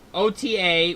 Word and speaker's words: Ota: I'm pretty sure it's Ota. pronounced Ota.